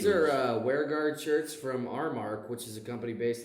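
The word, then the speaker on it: Aramark: Are WearGuard shirts from Armark, which is a company based out of St. Louis. Yeah, Airmark. It's actually pronounced Airmark.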